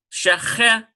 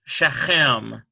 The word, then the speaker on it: Shechem: Here's a Sheen with a Shabbat, Sh. And here's a Chaf with a Segol, Shechem, ends with a Mem Sufit, Shechem, S-H-E-C-H-E-M, like the men of